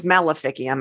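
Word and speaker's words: maleficium: know it has a Latin meaning too the malficium which uh it's melophicium actually but the um in Latin the seas are usually pronounced as the k sound the k sound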